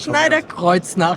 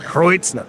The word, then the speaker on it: Schneider-Kreuznach: You're going to have to pronounce it. Schneider-Kreuznach. Kreuznach.